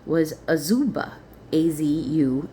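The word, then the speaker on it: Azubah: His mother's name was Auba.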